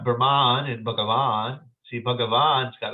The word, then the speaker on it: Brahman: People say Brahman, but as it's spelled, it's Brahman. Brahman. You'll hear like the scholars and stuff like that. They'll pronounce it. Maybe they'll go Brahman. But it's, yeah, you can go like that if you want. You can Brahman. But there's nothing, there's no long A there at the end for that word.